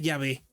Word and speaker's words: Yahvé: Eh, la pronunciación que se conoce o que se acepta es Yahvé, que significa yo soy el que soy.